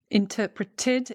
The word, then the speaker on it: interpreted: Interpreted, interpreted, because the T comes before the ED.